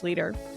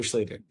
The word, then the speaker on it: Schlueter: It rhymes with Peter. Could have been a Peter Schlueter. Great so, story. Schlueter.